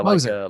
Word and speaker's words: Moser: like a bulldozer, Moser. Moser. Okay. Yeah. Because it frustrates me when people say going. And I'm like, no. You got to put the emphasis on the other syllable, man.